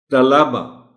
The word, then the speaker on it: طلبہ: بول جاتے ہیں ہم، طلبہ لام پر جو زبر ہے اس کو نمایاں ہونا چاہیے۔ حاضری، ذرا احتیاط کی